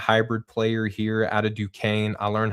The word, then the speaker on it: Duquesne: player here out of Duquesne. I learned how to pronounce that today. Duquesne spelled Duquesne or something. That's how I spell it, but Duquesne. I'm pretty sure it's French.